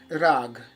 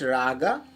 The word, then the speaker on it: rag: instrument or sing vocal it is basically called rag rag some people can pronounce it raga but the main or maybe ragam something but it is rag you can pronounce in